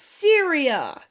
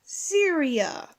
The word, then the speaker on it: Syria: now know how to say it guys it's Syria Syria say it with me Syria they're much better God what can I think about the first time god that's embarrassing in ancient Syria one thousand see there was a goddess who